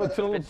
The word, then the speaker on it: Petit Le Mans: And Petit Le Mans. So I know the track. That's good. That's how you pronounce it?